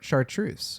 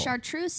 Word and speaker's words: chartreuse: chartreuse is CH and it's also a French word. Yeah. Sharpei might be a French word. I don't know, but it's spelled completely different. Okay. That's the other thing I don't like. It's got the CH taking the function of an SH.